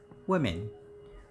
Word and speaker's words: women: e and that's it the pronunciation is quite different it's women women women women and the exact